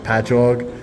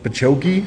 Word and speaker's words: Patchogue: I'm from Long Island, and the cities that we have, it'll be like Patchogue, and they'll be like Pachoki, and I'm like, no, it's just ingrained into my brain that I know how to say them.